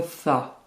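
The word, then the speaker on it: ث: Première difficulté, le tha. C'est un S très léger que vous prononcez en sortant légèrement la langue.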